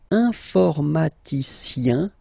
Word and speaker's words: informaticien: All right, and the last group is IEN, informaticien, yin, yin, yin. So that's the way to pronounce this IEN, yin, yin.